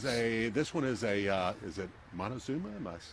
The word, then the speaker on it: Montezuma: It's a Montezuma. Okay. If I'm pronouncing that correctly.